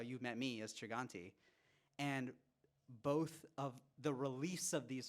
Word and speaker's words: Chaganty: I need you both to know that you're pronouncing our last name wrong, but you're both pronouncing it wrong in different ways. You say Aneesh Chaganty. Yeah. He says Anoop Chaganty. Chaganty. It's Chaganty. It's Chaganty, yeah.